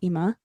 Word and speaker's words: Ema: Her name tag read Ema, pronounced Ema, as I would call my grandma.